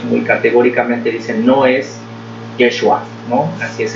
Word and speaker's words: Yeshua: categóricamente dicen no es Yeshua, ¿no? Así es el nombre que se pronuncia más o menos en hebreo, ¿no? No es Jesús, no es Yeshua.